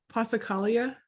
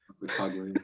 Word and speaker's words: Passacaglia: How do I pronounce it? I don't want to get it wrong. Passacaglia? Or Passacaglia, if you want to. Passacaglia, I like that better.